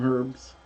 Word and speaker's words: herbs: We got some lettuce and a couple of tomatoes and some herbs. Herbs. H is silent.